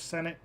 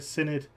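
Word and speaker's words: Senedd: lose uh seats in the welsh senate senate sorry synod that's how you pronounce it yeah that's it um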